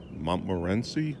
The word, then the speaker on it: Montmorency: This is a cherry, Montmorency, I believe it's pronounced, and it looks like it's starting to grow.